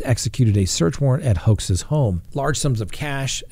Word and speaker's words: Hoxha: her daughter travel to meet with 20-year-old Gesart Hoxha, G-E-S-A-R-T-H-O-X-H-A. I guess common pronunciation.